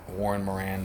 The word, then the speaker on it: Moran: Warren Moran be like, Moran rhymes with Duran.